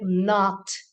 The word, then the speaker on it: know: but K remains silent words like not not K remains silent words like no no